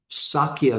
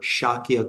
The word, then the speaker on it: Shakya: his father was kind of the the ruler of of the clan, the Sakya clan or Shakyia clan depending on how one pronounces it of the of the Shakya clan in India.